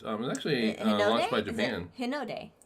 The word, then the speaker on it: Hinode: The High Node spacecraft was actually launched by Japan. Hinode. Hinode. Hinode. American. A-E-I-O-U. That's how they pronounce the vowels.